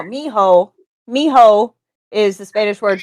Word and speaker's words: mijo: What's the word? Mojito? Yep. No, no, mijo.